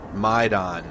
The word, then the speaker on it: Maidan: my don got it maidan that's how you pronounce it maidon the maidan square there's